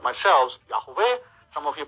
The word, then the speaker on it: Yahweh: Yahweh is a term for Yud-Heh-Vav-Heh, which many people pronounce like myself, Yahweh. Some of you pronounce as Yahuwah.